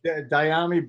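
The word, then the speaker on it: Dyami: Yeah, it's Diami Brown.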